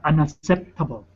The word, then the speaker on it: unacceptable: Okay, unacceptable. There you go. Unacceptable. K sound at the beginning, P sound right before the T.